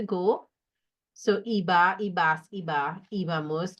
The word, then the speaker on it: íbamos: So iba, ibas, iba, ibamos, accent on the I, iban, right? So remember it's éramos with an accent, íbamos with an accent, and veíamos.